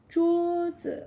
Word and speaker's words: 桌: We say 桌子. 桌子, which is first tone, flat tone. Okay, so 桌, yeah, first tone, neutral tone.